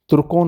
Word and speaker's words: तुर्की: तुर्कों द्वारा आवासित क्षेत्र का प्रादेशिक नामकरण भी इस जाति के संबंध सूचक के रूप में तुर्की हुआ। कुछ लोग इसे टर्की उच्चारण भी करते हैं।